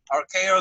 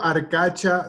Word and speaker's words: Arcacha: with the late David Ferry, anti-Castro leader Sergio Arcacho Smith. Sergio, how you say it, Larry? Sergio Arcacha Smith.